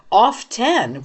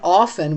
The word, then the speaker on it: often: said in Miriam Webster, often with the T was the first pronunciation and often was the second.